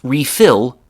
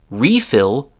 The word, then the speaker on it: refill: Re refill with the stress on the second part of the word. refill with a stress on the first part of the word and then underfill and overfill.